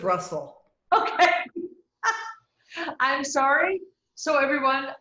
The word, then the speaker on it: Brussel: you you too now i pronounced your name purcell is that right i love it that way but it's not how i pronounce it i pronounce it russell okay i'm sorry so